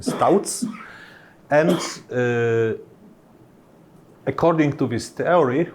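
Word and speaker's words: Tauc: from 50s I think developed by touts not talk he was this is a Czech surname so the proper pronunciation Stouts and according to this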